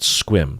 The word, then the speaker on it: Sequim: you 90 Day Fiance people you know about squim so one of the famous people in that fiance was from squim really yeah wow and uh of course it's